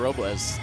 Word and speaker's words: Robles: Fighting out of San Juan, Puerto Rico, La Chica de Hola, Hola, Nahir Robles. See, I was going to tell you guys, you got to roll your R, but Shane did it for you.